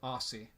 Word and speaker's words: Aussie: So, I will apologize if I was saying it wrong, like pronouncing it like Ozzy Osbourne instead of Aussie.